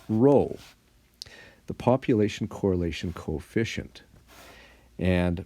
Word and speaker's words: Rho: and that has a special name it's called roll the population correlation coefficient and Rho which is pronounced like that roll it's actually the seventeenth